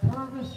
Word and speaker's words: Purvis: And it's easy to remember the name Purvis because Purvis rhymes with nervous. I mean, it rhymes with service.